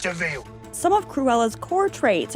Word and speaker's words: de Vil: With a name like Cruella de Vil, i.e. Cruel Devil, it's pretty much spelled out that you're going to be the bad gal. It's spelled devil, but it's pronounced Deville.